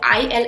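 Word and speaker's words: ils: So i l s but the pronunciation is il. They do not pronounce the s at the end.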